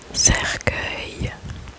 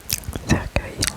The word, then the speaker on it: cercueil: fauteuil fauteuil fauteuil fauteuil fauteuil l'avant avantdernier est cercueil cercueil Cercueil cercueil cercueil cercueil cercueil cercueil cercueil cercueil cercueil cercueil cercueil cercueil cercueil cercueil cercueil cercueil cercueil cercueil cercueil cercueil cercueil cercueil cercueil cercueil c e r C U E